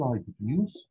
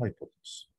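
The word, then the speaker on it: hypotenuse: اطول سايد فيه اللي هو ده اسمه هايبوتنس. في ناس بتقول هايبوتنيوس، الاثنين صح يعني، بس هو النطق المتعارف عليه هايبوتنس او الشيء المشهور يعني.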